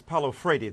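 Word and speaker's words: Paulo Freire: Michael what about that well this is ludicrous Pao Fredy the correct pronunciation of the Brazilian philosopher uh talked about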